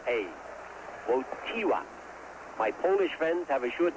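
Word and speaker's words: Wojtyła: name yet V it's WWA the accent is on the T WWA although you spell it w j t i l a WWA my polish friends have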